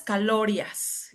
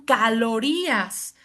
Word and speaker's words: calorías: Yo decía, bueno, calorias, ah, lo que quiso decir son calorías. O sea, la pronunciación estaba bien, pero simplemente no estaba a acentuando la sílaba correcta de la palabra calorías.